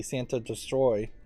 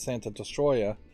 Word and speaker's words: Santa Destroy: I'm thinking the city Santa destroy which I'd always pronounced as Santa destroya and no more Heroes but I guess I misheard it uh that like there's